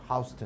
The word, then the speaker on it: Houston: 在纽约人就一定念 Houston，你念 Houston 就知道你是外地人啊。